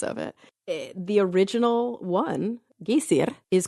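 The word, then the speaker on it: Geysir: on I have to hear it again G gayer which is spelled g y s i r sometimes it's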